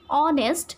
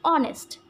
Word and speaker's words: honest: So there is no pronunciation of this H. I have just pronunciated the word like honest.